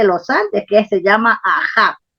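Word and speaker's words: Aha: Andes que se llama Aja. También se escribe A-H-A porque se escribe en egipcio, en jeroglíficos egipcios, pero la fonética del nombre está registrado en el Runasimi, Aja.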